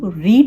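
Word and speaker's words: read: उसका साउंड जो है जैसे की रीड रीड रीड का जो पास होता है वह रेड होता है ओके स्पेलिंग से है पर यह जो इसका प्रोनाउंस करने का तरीका है पेस्ट में चेंज हो जाता है तो उसका मैंने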